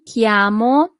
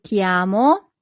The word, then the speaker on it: chiamo: So, in Italian, that would be mi chiamo Claudia. Mi chiamo Claudia. Always remember that CH in Italian always corresponds to the sound K.